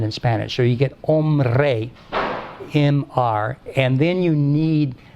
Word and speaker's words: hombre: R, and that's where hombre comes. And the H is not pronounced, but it's the etymological H from Latin, homines.